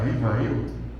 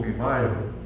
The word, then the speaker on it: Rivail: Aí está a pronúncia, muita gente fala Rivail ou Rivail, mas na verdade, se a gente quiser falar o certo no francês, a gente sempre aprendia que no francês tem que fazer o biquinho, né?